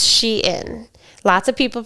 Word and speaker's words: Shein: it to Sheen so I thought it was pronounced shine and I thought it was Sheen but it's she in lots of people pronounce it incorrectly even the